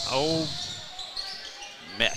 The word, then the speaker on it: Ole Miss: Old Miss. Strong on the M.